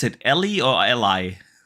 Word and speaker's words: Ally: But hey, luckily we get the Ally coming soon. Yeah. Do we pronounce actually? How do we pronounce it? Ellie or Ally?